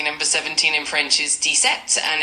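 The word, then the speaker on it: dix-sept: Number 17 in French is detect and it's spelled D I X S C P.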